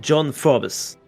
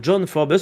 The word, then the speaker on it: Forbes: coopération avec un certain John Forbus. Alors, qui est John Forbes ou alors John Forb si vous voulez prononcer à la française ?